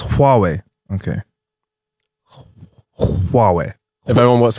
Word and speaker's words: Huawei: Like, look, man, look at you lot all getting Huawei phones now.